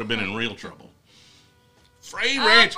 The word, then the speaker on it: Frey: Frey Ranch. I think I heard it was supposed to be Fry Ranch, but, like, if you're pronouncing Frey, Fry, I'm just not on board with that.